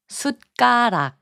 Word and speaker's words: 숟가락: 숟가락, which means spoon, is pronounced as 숟가락.